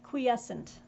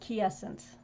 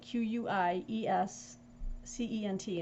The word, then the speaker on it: quiescent: say yeah it it's not hard really it's quiescent uh cute there were times that when i would i would pronounce it q essence um but obviously it's like q-u-i-e-s c-e-n-t and it means in a state in a